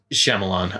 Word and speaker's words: Shyamalan: It's Shyamalan. I can actually pronounce his last name, but yeah, so that's look like Signs.